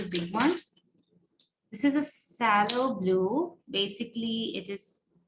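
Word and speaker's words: phthalo: i'm using the big ones this is a sallow blue basically it is not written as sallow it's written as p h t h a l o but it's pronounced as sallow i really don't know what okay there we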